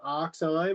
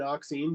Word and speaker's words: oxime: use that to make an oxime or an oxime, depending on where you come from, the way they pronounce it, like potato, potato.